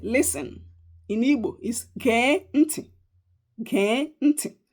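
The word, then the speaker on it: gee: In Igbo is geh nti. Geh nti. Geh is G E E in English.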